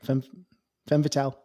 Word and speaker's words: femme fatale: Femme Fatale.